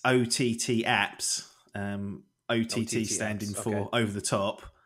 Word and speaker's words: OTTAPPS: know that Shane game face has has said Oh taps and that's how I thought it was pronounced how do you actually pronounce it well initially it's OTT apps OTT stand in for over-the-top and be Shane